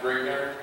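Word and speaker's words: Grignr: And that is the only basic correction I will give you is the fact that it is pronounced Grigner, and that is the accepted pronunciation for the name, but it is not an easy one to go.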